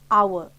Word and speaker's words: hour: The noun our sounds like our, a vowel sound because H is silent.